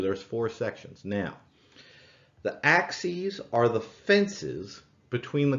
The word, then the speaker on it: axes: axis you pronounce that axes it is spelled the same as the axes you chop with and so that is